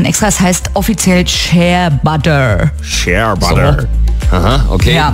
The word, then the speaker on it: Shea-Butter: Nicht Chia-Butter, sondern Share-Butter. Share-Butter.